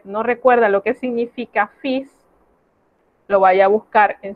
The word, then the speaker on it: fils: Es una excepción a las reglas de la pronunciación, porque el sonido que aquí vamos a evitar es el sonido de la L. Y en lugar de eso vamos a pronunciar la S. Eso generalmente no se hace, pero con esta palabra es de esa manera, es una excepción.